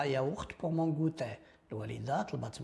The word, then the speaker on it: yaourt: ياوخت ما كتنطقش ياغوخت اياوخت.